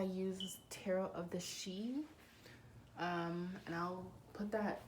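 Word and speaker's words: Sidhe: this description description box because it's spelled s-i-d-h-e so it's like a little you know um it's kind of like i guess tricky to find i guess by just hearing it but um that's this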